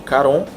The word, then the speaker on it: Charon: E esse barco é dirigido por um cara chamado Charon, um CH, que pode ter pronúncia de Caron, que vem de Caronte,